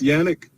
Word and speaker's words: Yannick: It's Yannick, but I don't, it don't bother me.